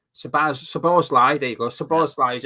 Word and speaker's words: Szoboszlai: And I always get muddled up with pronouncing this guy's name. Szoboszlai, there you go.